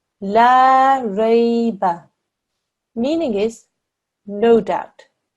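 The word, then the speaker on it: لا ريب: If we read essentially the same letters in the next word here, but we don't have a alif madda after the lam, okay? La rayba. La rayba. The meaning of that is sure doubt. Reading this lam with an alif madda afterwards, if we were to read this incorrectly and do it only for 1 second, as is the case here, not only do we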